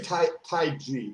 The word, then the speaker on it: Taiji: every day right you're you say tai ji is is that because i like to pronounce things in their original language okay so it's it's uh like the most original form of enunciation so i'll say it